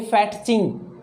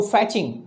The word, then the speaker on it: fetching: cute with fetching fetching don't ever say fat thing no it's not fetching tea is silent here so fetching fetching that baby is